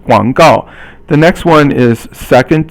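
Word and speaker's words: 广告: Guang is third tone, and gao is fourth tone. Guang gao.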